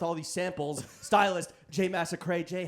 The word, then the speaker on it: Massacret: because we realized that your name is spelled a la Chalamet. A la Chalamet. E-T-A. Or sorry, pronounced a la Chalamet. Pronounced So a la you're Chalamet. French. Yeah. So I'm French.